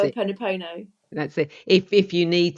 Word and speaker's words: Ho'oponopono: Use the Hawaiian forgiveness prayer, Hapono Ono. I can never pronounce it. Ho'oponopono.